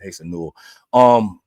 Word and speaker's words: Asa Newell: It's Asa Newell.